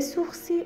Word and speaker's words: sourcil: les sourcils ابروها، un sourcil یه دونه ابرو. c'est un nom masculin. ال تلفظ نمیشه.